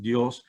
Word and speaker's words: Dios: juan josephios john joseph dios dios is actually in spanish pronounced dios and it means god and he was a